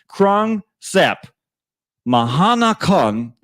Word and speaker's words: Krung Thep Mahanakhon: Krung Thep Mahanakhon Aman belongs to us now.